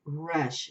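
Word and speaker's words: Resh: in the corner the Hebrew letter uh is Rush it's spelled re s Rush means front of the head or face things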